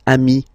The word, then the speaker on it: amis: Plural form, you add this S, but it's ami as well.